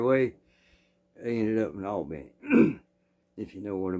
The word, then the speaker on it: Albany: Now, it's spelled like Albany, New York, but if you're from Georgia, you call it Albany. That's what they call it.